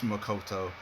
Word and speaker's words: Makoto: It's like sometimes you get mad because people can't say the pronunciations of names, but I let it slide. It's Makoto.